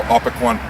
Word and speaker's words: Opequon: And at the Battle of Third Winchester, he was at what they call Opequan Creek, or Opequan, depending on how you pronounce it.